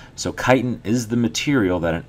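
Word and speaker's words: chitin: material called kiten so it's pronounced kite in but it's spelled like this c i t i n all right so kitan is the material that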